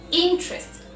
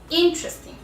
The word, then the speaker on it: interesting: Interesting. We say this word in two syllables. Interesting.